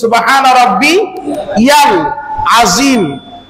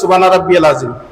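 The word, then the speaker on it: سبحان ربي العظيم: কিন্তু বলেন তো আমরা বেশিরভাগ কই সুবহান রাব্বিয়াল আযীম। জিজ্ঞাসা করে দেখবেন, বলে বলো তো তুমি রুকুতে যায় কি করো? হ্যাঁ বলবো যে আমি বলি সুবহান রাব্বিয়াল আযীম। আসলে কি সুবহান রাব্বিয়াল আযীম?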